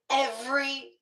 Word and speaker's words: every: I would still honestly not um Yeah, I would not use the three syllables. I'd say every day.